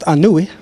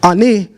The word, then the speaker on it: Ani: Ani is not how you pronounce his name, because when you look at the glyphs, it would be Anui.